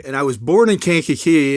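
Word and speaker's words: Kankakee: So, you grew up in Canaki, Illinois. Did I pronounce that right? No, you didn't. It's Ki. Okay. And I was born in Cana Key.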